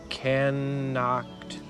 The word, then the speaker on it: knocked: He knocked. The K is silent.